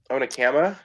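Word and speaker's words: Onekama: how to say it onama on there you go I lost in my brain too dude it doesn't sound like a looks like it's spelled but yeah there's golf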